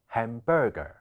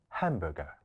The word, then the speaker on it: hamburger: 片段裏面嘅男士講咗 hamburger, 將放咗喺第二音節。其實呢一個字應該讀成 hamburger 。重音放喺第一音節，而第二